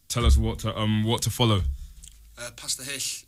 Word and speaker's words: Pasta Hull: Pasta Hish. It's spelled pasta, and then it's basically like Pasta Hull, but you don't seem like that.